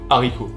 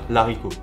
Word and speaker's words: haricot: avec le S précédent ensuite on a le h aspiré même si ce h n'est pas prononcé non plus il empêche les liaisons et les élusions par exemple on va dire le haricot ok on ne peut pas dire l'haricot et donc ne fait